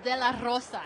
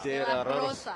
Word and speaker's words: de la Rosa: It's de la Rosa. You got to roll your R's. De la Rosa.